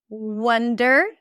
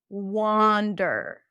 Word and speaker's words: wonder: Wonder. Wander. Wonder. Wonder. So, here it's a little confusing because this is a cup sound.